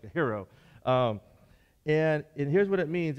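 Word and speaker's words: αἴρει: word is a hero it's a-i-r-e-i but it's pronounced a hero okay like a hero and here's what it means it means this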